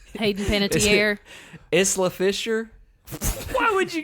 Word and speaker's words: Hayden Panettiere: Hayden Panettiere.